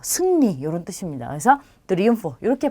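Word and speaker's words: triunfo: 자, 그럼 둘 중에 뒤에 오는 얘가 강세가 되겠죠. 그래서 트리움포 이렇게 하게 되면 뭐 승리 이런 뜻입니다. 그래서 트리움포 이렇게 발음하시면 돼요.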